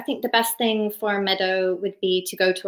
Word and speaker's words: Medeau: And Meadow is spelled Medeau if you're Googling it.